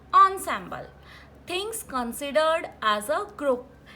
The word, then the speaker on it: ensemble: Ensemble, the spelling starts with en, but the pronunciation of this word is ensemble.